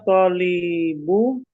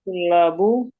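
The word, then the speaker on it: طُلَّاب: bismillah Ee jaa jaa tholbu. Nah, kalau yang ini bacanya gini. Tulla. Oh, tulabu. Jaa tullabu ba'duhum.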